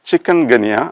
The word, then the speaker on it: chikungunya: from some african language the pronunciation of the word is chikungunya as given in the advanced learner's dictionary now the tricky area